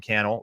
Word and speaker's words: Cannell: If we happen to just be meeting, my name's Sean Cannell, rhymes with YouTube channel, and I live in Las Vegas with my wife, Sonia, and our 2 boys, Sean and John.